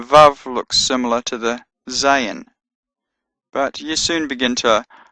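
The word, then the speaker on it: זַיִן: And Zayin has a Z sound, Z as in Zion. Although Zion is actually pronounced Zion in Hebrew. But in any case, the Zayin has a Z sound. The eighth letter, Chet, has a Ch sound as in Loch or Bach.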